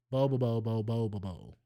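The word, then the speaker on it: Bobobo-bo Bo-bobo: It's Bobo Bobo Bobo Bobo. That's how you say it, my guy.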